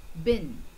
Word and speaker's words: been: one bin i have been to the deserted place have you been through the suffering it is b double e n but we don't say been what do we say the pronunciation has been i have